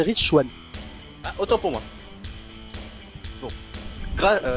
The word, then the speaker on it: Rich Swann: Donc, nous en étions maintenant à Neuville face à Rick Swann pour le titre Cruiserweight. Face à Rich Swann. Rich Swann? Moi, je prononce Rick. Ah non, c'est Rich Swann.